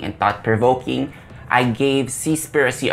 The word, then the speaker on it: Seaspiracy: thought provoking i gave c spiricy a shot i believe that's the proper way to say it not cease piracy though i think it's